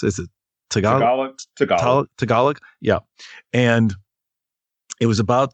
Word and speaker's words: Tagalog: In how do you pronounce it? Is it Tagalog? Tagalog.